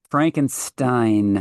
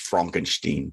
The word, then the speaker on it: Frankenstein: Frankenstein. Uh no, that's uh pronounced Frankenstein.